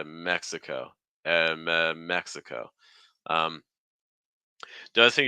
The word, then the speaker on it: Mexico: Latin language friends um for that final o sound it's going to be very open especially compared to like for instance like Spanish at the end so it's not going to be oh oh it's gonna be oh oh really try to extend the breath don't stop the breath like Mexico Mexico you know we're not